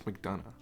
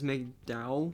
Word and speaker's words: McDonagh: how to pronounce it i always read it as mcdowell but there is an n in there it's mcdonough he's an irish guy can